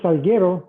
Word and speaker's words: Salguero: So last name is Salguero, if you do a Spanish pronunciation.